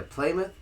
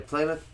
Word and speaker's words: Plymouth: Virginia in August 16007 the playmouth I said it again didn't I rather you didn't say it right again no I did not say it right again in August 1607 the Plymouth Plymouth Plymouth Company landed